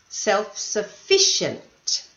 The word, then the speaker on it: self-sufficient: out some pronunciation points self-sufficient the second last syllable this one however reliable